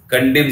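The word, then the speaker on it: condemn: कंडेम कंडेम हो गया, अब उसके बाद कंडेम में एन साइलेंट होता है कंडेम, अब नेटरी लिखना है इसी से जोड़ोगे एन ए टी आर वाई कंडेम नेटरी समझ गया ना, एन साइलेंट होता है कंडेम में है ना, जिसके भी लास्ट में एम एन होता है उसका एन साइलेंट हो जाता है, तो कंडेम और फिर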